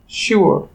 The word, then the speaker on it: sure: ঠিক একইভাবে আমরা উচ্চারণ করব SURE, শিওর, এবং CURE, কিওর।